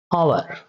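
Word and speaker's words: hour: आवर, ये H silent, इसमें क्या है, एच साइलेंट।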